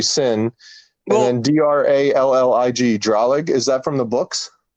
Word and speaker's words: Cin: Or how would you say Cin is his first name? So that's got to be Sin.